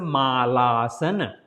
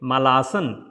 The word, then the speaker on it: Malasana: I have seen everywhere people saying it Malasan, but it is not Malasan. Mal means a stool, poop. Yeah, so it's not poop asan. Maybe in Asia people sitting like that to poop, but it's not poop sitting pose, right? So it's a Malaasan, not Malasan.